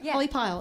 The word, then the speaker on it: Holly Pyle: pyle is that how you say it right holly pyle okay awesome holly so great to have you